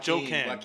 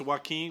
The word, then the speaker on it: Joaquin: Singing songs too, like that Johnny Cash movie with the with Joe Can. With Joe. It's pronounced Joaquin because Joe Can.